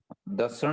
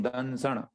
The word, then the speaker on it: दंसण: दर्शन नहीं, दंसण। उसमें दंसण जी अनुस्वार है।